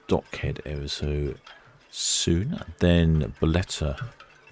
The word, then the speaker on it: Bolette: and then beteta and we now know it is pronounced beteta cuz we've heard it on the radio sley suet almost visible